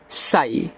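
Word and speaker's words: sigh: एस आई जी एच इसको पढ़ते हैं सई।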